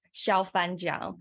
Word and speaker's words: Xiaofan Jiang: My name, which is a little bit hard to pronounce, is Xiaofan Jiang.